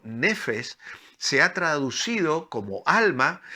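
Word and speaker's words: נפש: Esta importante palabra hebrea, que es una palabra que se pronuncia en hebreo como nefes, se ha traducido como alma y aparece más de 700 veces, más de 750 veces en el Antiguo Testamento.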